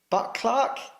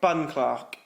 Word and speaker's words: Bunclark: Is that how you pronounce it? I'm dyslexic, guys. Uh, so I pronounce every Would you say it's Jamie Buckclark? BunClark. Bunglark. Bunclark. Bunglark. Sorry. So, in third place in the 160s is Jamie Bunclark.